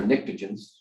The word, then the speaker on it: pnictogens: And these are pnictogens. The nitrogen group starts with a P actually, but the P is silent.